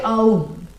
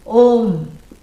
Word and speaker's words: Om: Nobody should say Aum. Yeah, that's wrong. You should never come in between the words which are joining to make a new syllable. A plus U, O, Om.